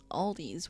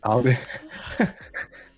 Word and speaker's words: Aldi: It's not my favorite experience, but Aldi's, where are you at?